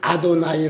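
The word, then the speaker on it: אֲדֹנָי: 9 양에도 쥐어 라는 말은 히브리 말로 는 아도나이 라고 이렇게 발음하고 있습니다 그걸 신약에서는 쥐 리오 쏘라고 이렇게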